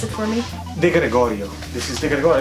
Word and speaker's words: De Gregorio: Do you want to pronounce it for me? De Gregorio.